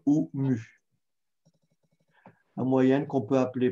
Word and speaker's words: mu: Sinon, on peut l'appeler aussi la lettre grecque mu, prononcée mu.